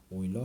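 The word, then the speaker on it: Euler: 사람이 이름을 요렇게 붙였다 오일러 상수 e 아 독일어에서는 이유를 오이라고 읽어요 그래서 유럽도 영어에서는 e o 유럽이라고는데 독일어에서는라고 저을 안고 오이로파 오이로파 이렇게 읽어요 그래 요거는 오일러 영어권에서는 일러를 러라 읽어요 율러 어쨌든 거를 오일러 상수라고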